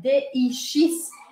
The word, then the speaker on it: dix: Então, o número 10 se escreve D-I-X, D-I-X, mas para você conseguir pronunciá-lo da forma correta, você tem que sempre prestar atenção qual é a próxima palavra.